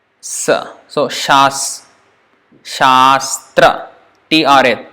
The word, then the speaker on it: Shastra: and then it is not sastra sastra means it is the same SS but no here s with accent one table first so sure and then second one is sir Shastra that's how it's pronounced sure remember sure position